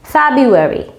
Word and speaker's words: February: এখন আপনি যদি একটু বানানটা দেখেন, FEBRUARY, এটা হচ্ছে গিয়ে এটার সঠিক বানানটা। কিন্তু উচ্চারণটা যদি আপনি খেয়াল করেন, এবং আমি যে ভেঙে ভেঙে সিলেবলগুলো দিয়েছি ফেব্রুয়ারি, সেখানে আপনারা দেখতে পারবেন আরটা কিন্তু, প্রথম আরটা কিন্তু উচ্চারণ হচ্ছে না।